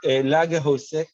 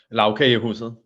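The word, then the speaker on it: Lagkagehuset: Even if you have at the airport, what's the Lagerhuset? I know I'm not going to manage to pronounce it properly for the Denmark. Justin, do you want to say it properly? Lavkagehuset.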